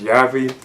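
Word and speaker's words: Javi: And Anthony's character, known as Yavi, that's how you pronounce it, he shows up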